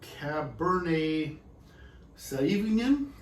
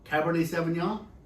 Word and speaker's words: Cabernet Sauvignon: heard of let me see if i can pronounce it correctly uh cab bernie sauvignon oh cabernet sauvignon and you have heard of it of course